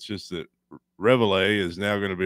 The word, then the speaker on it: Reveille: Well, their dog Reve. I had no clue what the dog's name was. Yeah, I had no clue. How do you say it? Reveille? Yeah, that sounds better. Reveille.